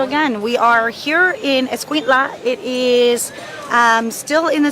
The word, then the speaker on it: Escuintla: Escuintla.